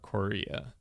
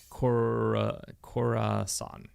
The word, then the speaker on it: Khorasan: Muslim invasion of Sultan of Korea. No, that's not how you say it. Khorasan.